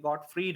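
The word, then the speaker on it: Gottfried: गॉटफ्रीड है, यह है प्रोनाउंसिएशन, एक गॉटफ्रीड है।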